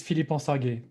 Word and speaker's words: Philippe: least hears it one time my name is philippe i think i did a good job then